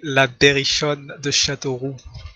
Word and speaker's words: La Berrichonne de Châteauroux: How is it supposed to be pronounced, Bulle? You say La Berrichonne de Châteauroux. La Berrichonne de Châteauroux.